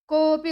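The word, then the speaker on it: कोऽपि: বালকেন সহ কপি নগচছতি এখানে অটা এরকম হবে না। কওপি উচ্চারণ এরকম হবে।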